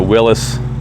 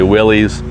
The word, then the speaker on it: Willys: probably pronounce that wrong some people around here call it willis some people say willys whatever you know what